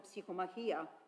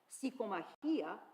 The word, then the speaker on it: Psychomachia: Catholicon a separate lemma, Psychomachia, where he states that it is a work by Prudentius, meaning a battle of the soul. And it is pronounced with the stress on the penultimate syllable.